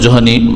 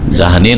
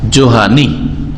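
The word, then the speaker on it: جهني: যারা এখনো জোহানি লিখেন, হ্যাঁ জাহানি না বিকৃত করে আপনি একামাকে আকামা বলবেন, তো এটা তার ঠিক না। জোহানি শুদ্ধ উচ্চারণ হচ্ছে জোহানি, জোহাইনা বংশ, আর নিসবত করলে জোহানি। হ্যাঁ, জোহানি। একজন ইমাম, কাবা শরীফের ইমাম এখন, শেখ আব্দুল্লাহ আওয়াদ, শেখ আব্দুল্লাহ আওয়াদ আল জোহানি। জি, জেহানি নয় আর জাহানি নয়, ওই দেশের জাহান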